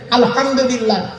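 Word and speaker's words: الحمد لله: আলহামদুলিল্লাহি রাব্বিল আলামিন আলহামদুলিল্লাহ হাই উঠে নয় গলার ভিতর থেকে উচ্চারণ করবেন আলহামদুলিল্লাহ এর মানে হচ্ছে সমস্ত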